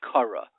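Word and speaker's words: קרא: L'mashal, you say the word Kara. The Aleph you don't pronounce.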